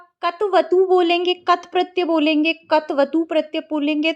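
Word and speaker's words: क्तवतु: लेकिन कत और कतवतु ये बिल्कुल इसका अशुद्ध उच्चारण है, क्योंकि क इस तरीके से बोलने का मतलब है कि क में स्वर है जबकि नहीं है। तो आपको शुद्ध उच्चारण करने का प्रयास करना है। कत प्रत्यय कत्वतु प्रत्यय, कत्वतु प्रत्यय, क को छोटा सा बोलिए, इस तरीके से इसका सही उच्चारण होता है।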